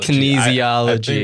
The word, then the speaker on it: kinesiology: what word you said oh can isolation kinesiology kinesiology that's how you say it it's a weird word would you say that